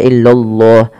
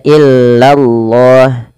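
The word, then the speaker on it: إِلَّا اللَّه: Illallah lanya tapi tipis tidak boleh tebal. illallah ya tidak illallah tapi dia illallah illallah ah seperti itu.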